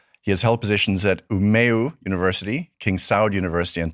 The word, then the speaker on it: Umeå: You did well with the pronunciation. It was pretty good. It's Oulu. Oulu. And Umeå.